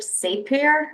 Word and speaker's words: Sapir: There's Edward Sapir, I believe that's how you pronounce his name.